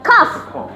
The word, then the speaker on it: cough: Alright, I've got a cough. Kalau G sama H dibacanya F, jadi cough ya, bukan cough.